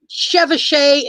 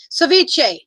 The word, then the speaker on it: ceviche: it is um uh the word chevashay is coming to my head but that is not how you pronounce it ceviche oh yeah you know